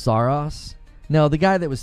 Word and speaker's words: Saros: It's pronounced Saros.